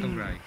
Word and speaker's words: Cymraeg: It's Cymraeg. I just get Cymraeg. Okay, Cymraeg. Cymraeg.